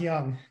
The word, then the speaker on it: Junge: want to try it it's pronounced young like y-o-u-n-g but it's not spelled like that that's how it is